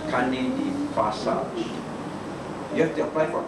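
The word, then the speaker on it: carnet de passage: But because it's French, it's pronounced as carne de passage.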